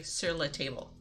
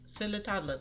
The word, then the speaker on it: Sur La Table: pronunciation and they say Sur La Table and it just it makes me cringe because you're supposed to say it like the French it's Silla tablet let's just keep the